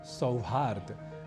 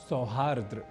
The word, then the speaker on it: सौहार्द: यह कहना हो तो बनेगा शब्द सौहार्द ना कि सौहार्द्र इसी तरह से एक